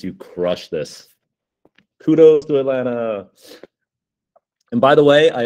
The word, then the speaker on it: Alana: Kudos to Alana. And by the way, I always like to say, Alana, her name is pronounced like the city, Alana, not Alana, not Elena, Alana.